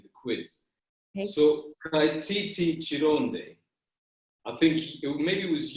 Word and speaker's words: Kironde: But you know, like when you're out and about, you anglicize it to Kironde, but really it's Kironde.